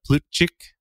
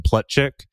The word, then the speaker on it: Plutchik: familiar with is the Plutchik wheel. And he was actually American, so they probably called him Plutchik, but Plutchik is probably how his ancestors pronounced the name, who was developed by psychologist Robert Plutchik in 1980.